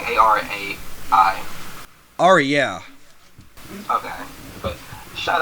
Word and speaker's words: Arai: Ari? Not Ari? It's like Arai.